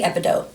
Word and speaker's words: epidote: that you have it i'm going to say epi like epipen because that's how it's spelled epidote d-o-t-e and because it has a silent e at the end and the o would say its own name because i teach my kids in homeschool and that's how we do it it'd be epidote i'm not really sure